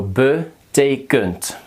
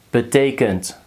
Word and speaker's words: betekent: The first is the second one is pronounced as e, and the third one is So betekent. Wat betekent dat?